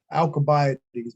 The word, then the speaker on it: Alcibiades: athenians and here's why well there's all alcibiades or it might also be uh alcobiothies might also be a pronunciation i call him the